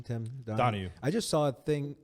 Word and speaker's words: Donaghy: Tim Donahue. I just saw a thing. I thought it was Donaghy. It is Donaghy. It's D-O-N-A-G-H-Y. Donahue, spelled the same.